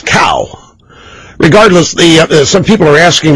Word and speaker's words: Cao: pronunciation of Mr. CAO's name, the rookie, the guy that replaced Congressman William Jefferson, Democrat, Louisiana, is Cow.